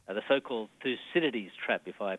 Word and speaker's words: Thucydides: The so-called Thucydides trap, if I pronounce Yes, that Thucydides, correctly.